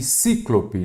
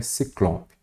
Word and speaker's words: Ciclope: ter acento éter e cíclope nada disso a maneira a pronúncia correta e a escrita é Ciclope show de Bora bola